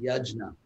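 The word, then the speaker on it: यज्ञ: central theme of the gita is pronounce it phonetically yajna there's all kinds of regional indian pronunciations like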